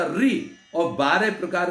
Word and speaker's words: ऋ: तो वहाँ पे एक प्रश्न किया गया, गुजराती में ये जो ऋकार है उसको रू बोला जाता है, रुकार बोला जाता है, रू बोलते हैं।